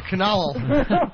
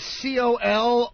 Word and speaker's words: colonel: Yes, a Connell. Fuck you. Connell. Connell Clink. I am Connell. Wow. All right, well, that's your first strike. You want to spell that one, Jimmy? The word is C-O-L-O-N-E-L.